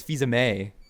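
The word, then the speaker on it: Fils-Aimé: they correct you that you said Reggie's name wrong yeah you said Fe is it Fe I thought it no but he said FEA me it's Fe May okay oh Reggie feha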